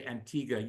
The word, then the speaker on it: Antigua: And of course, Antigga, you know, it's it's spelled Antigua, but we say Antigga.